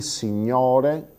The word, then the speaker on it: signore: Sentite la differenza: il signore con la O aperta, i signori con la O chiusa, il professore con la O aperta, i professori con la O chiusa e così via.